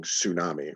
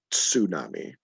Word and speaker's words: tsunami: sound in uh right we're used to pronouncing tsunami right with the t is silent uh but in japanese right that's it's not silent right that t is in front of there for absolutely for a reason right but we don't